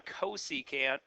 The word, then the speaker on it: cosecant: So this new one, cosecant, that's how we pronounce this one, is the reciprocal of sine.